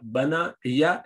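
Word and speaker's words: بنى: It was actually bana'ya. But you do not say ya at the end because it's difficult to pronounce. So the Arabs make it easy and they say bana, change it into alif to pronounce it.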